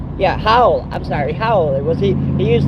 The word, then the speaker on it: Howell: His name's Howley, Howell. I'm sorry, Howell. He used to be in Howell, Michigan. It's spelled Howll, Howell. Not Howley with a Y. Take off the Y, Holl, Howell.